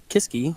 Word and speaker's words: Kiske: Well, Justin Kiske appreciates us saying Kiske and not Kisk.